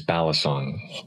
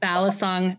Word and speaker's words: balisong: and now I already can't pronounce it the pronunciation that I use is balisong balisong knives yep so we're gonna get into talking